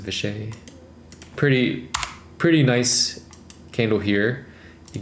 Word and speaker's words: Vishay: All right, VSH Vishay is how you pronounce it, Vishay.